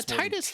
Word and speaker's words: Titus: Yeah, Titus just like title, because all these names are like, you know, he's got that water sword.